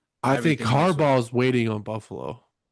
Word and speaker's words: Harbaugh: I think Harbaugh is waiting on Buffalo. How'd I say his name? Harbbor. Yeah, you said it like Marboro. like a marble red.